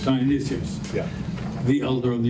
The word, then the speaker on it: Dionysius: We're not talking about Dionysus, we're talking about, how do you pronounce? Dionysius. Dionysius.